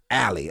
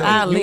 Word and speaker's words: Ali: You were saying Allie. I'm like, this man know how to say my name. Allie, what did he say wrong? Allie. You know, you Ali?